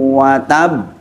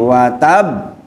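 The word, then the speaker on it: وَتَبَّ: Di situ bacanya yang pertama ada tasdid, tabbat yada abi lahabin wa tabb. Di situ ada bak terakhir itu ada tasdid juga, jadi wa tabb. Bukan watab, beda nggih.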